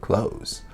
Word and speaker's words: clothes: with the word clothes there's a little trick that I teach my students with clothes and that is just to say close close the door I